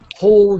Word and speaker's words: whole: and whole whole grains so the W is silent just think of pronouncing the H whole grains whole grains all